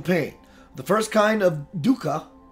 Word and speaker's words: dukkha: The first kind of dukkha, it's pronounced, is the obvious suffering caused by physical